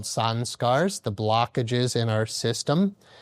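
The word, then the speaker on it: संस्कार: Again, the yogis call these samskaras, or you hear them in the West pronounced like samskaras or samskaras. But, in India, it just be like samskara.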